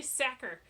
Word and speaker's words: Sachar: is by Louis Sachar actually it's not such art I just looked at Google cuz I didn't know if I've been pronouncing his name right now this time we're not it's actually sacker it spelled sa CH AR and it's spelled sucker like cracker because what he says